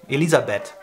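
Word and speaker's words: Elisabeth: nickname for Elizabeth yeah ELISA bet Elizabet ELISA bet I like it because the H is just not there and it's funny yeah the H is there in the name but we don't say it that's what I'm saying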